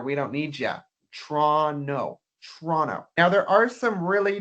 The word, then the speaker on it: Toronto: Most people from around the world would read this as Toronto. But we don't say it like that. In fact, we would say Toronto. Toronto. I'm going out tonight in Toronto. We do this by taking away the first O in the word.